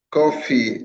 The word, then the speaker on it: Kofi: Kofi or is it Ki? Yeah, coffee. I think you did pronounce wellid9 pandemic for me.